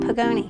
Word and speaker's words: Podgajny: Hi, my name's Podgajny. Podgajny is spelled P-O-D-G-A-J-N-Y.